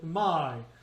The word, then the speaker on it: my: It's ah and it's e, but we don't say my, we say my. And we always linger on the first vowel.